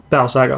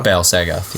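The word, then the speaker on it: Bal-Sagoth: And the guy doing the keyboards and violins for this record was the guy from Battle Saga. Battle Sagoth. Yeah, I almost mispronounced it.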